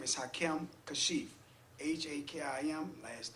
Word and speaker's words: Hakim: yes sir thank you my first name is hakim kashif h-a-k-i-m last name is kashif k-a-s-h-i-f okay